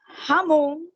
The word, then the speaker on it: jamón: É Pode jamón. repetir a pronúncia de presunto?